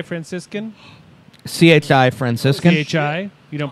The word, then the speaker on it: CHI Franciscan: Do you pronounce it Chai Franciscan? CHI Franciscan, CHI. You don't pronounce it Chai.